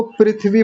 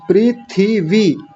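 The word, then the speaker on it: पृथिवी: प्रीथि वी हम थ पर छोटी इ की मात्रा बोलना भूल जाते हैं। प्री थी वी और पहला वाला आ छोटी इ की मात्रा है।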